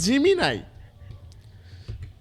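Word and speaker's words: Gemini: গুগ এসে সার্চ করবেন জিমিনাই।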